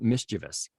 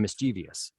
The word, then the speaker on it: mischievous: I know that there was a great big conversation about mischievous and mischievous, right? And it's like, well, everybody says mischievous. Nobody says mischievous, but mischievous is supposed to be technically correct.